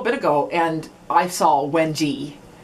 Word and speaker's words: wenge: And so I looked it up a little bit ago, and I saw Wenji, which like rhymes with Benji. And so I'm going with Wenji. But apparently Wenge or Wenge, it's all used, but I'm going with Wenji.